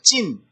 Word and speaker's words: 찐: 찐. 가짜가 판치는 세상에서 그런지요, 찐이라는 이 인터넷 새말이 너무나도 유행되고 있다는 것입니다. 진짜에서 진을 떼서 세게 발음하는 것이 찐인데요, 진실 또는 세상의 가치를 표현한 말입니다.